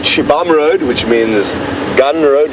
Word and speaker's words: Xibamu: Interestingly, in Shangaan, XI is pronounced she. So Shibam is spelled XIBAMU. Kind of don't really pronounce the U at the end. Or at least you shouldn't if you're speaking proper Shangaan. But a lot of people go Shibamu. But it's more a silent U at the end.